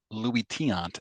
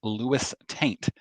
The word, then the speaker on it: Luis Tiant: that came up, including his pronunciation of Louis Tiant as Lewis Taint repeatedly.